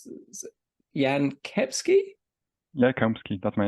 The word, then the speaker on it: Jan Kepski: FPL Yan yeah that's response I'll let you pronounce this Yan kepsky yeah that's my name yeah hello I'm very